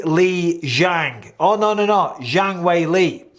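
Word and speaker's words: Zhang Weili: no Zhang Wei Li in the Chinese culture and I only know this from when I commentated out in uh China the the two-syllable word goes second because it used to be Wei Li Zhang but apparently the way you put he put Zhang wayley that's apparently so but still either way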